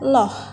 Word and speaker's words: Allah: Di sini ada lafadz Allah, apabila sebelumnya berharokat A atau U, maka cara membacanya dibaca Loh.